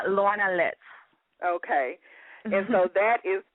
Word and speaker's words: Lorna Litz: on the show now am I pronouncing your name right as Lorna litz yeah Lorna litz okay and so that